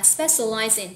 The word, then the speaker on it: specializing: Các bạn lưu ý nè, specialize thì âm đuôi nó sẽ là z, và chúng ta sẽ nối âm qua in thì mình sẽ đọc là specializing, nhớ chưa nào?